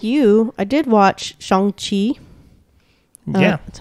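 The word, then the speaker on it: Shang-Chi: know um i like you i did watch shang chi yeah that's how you pronounce it at least according to that and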